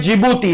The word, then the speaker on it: जिबूती: देखना spelling D से शुरू होती है और नाम है जिबूती।